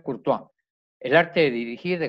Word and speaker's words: Courtois: Se escribe Courtois, Courtois, y se pronuncia Courtois.